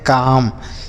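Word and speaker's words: calm: सी ए एल एम काम। इसे यहां पर भी ये देखिए एल यह भी साइलेंट है। मतलब इस एल को भी नहीं पढ़ा जाएगा। तो इसे हम क्या पढ़ेंगे? काम पढ़ेंगे। काल में नहीं पढ़ेंगे। अगर आप ऐसा पढ़ देते हैं काल में तो यह गलत हो जाएगा। इसे काल में नहीं पढ़ेंगे। काम पढ़ेंगे। यहां पे एल साइलेंट है।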